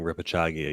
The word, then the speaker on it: repechage: Repechage. And you're never saying repechage again.